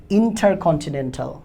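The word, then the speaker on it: intercontinental: টি, ইন্টারকন্টি, ইন্টারকন্টি, তারপর এন-ই-এন, নেন, ইন্টারকন্টিনেন, তারপরে ঠাল, ইন্টারকন্টিনেন্টাল।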